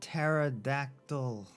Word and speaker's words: pterodactyl: the p is silent the p is silent he not the pterodactyl oh oh my god i